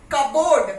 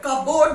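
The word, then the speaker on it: cupboard: then again it इज कबोर्ड कबोर्ड नहीं कबर्ड okay P is silent P इज not pronounce कबर्ड okay and this Raspberry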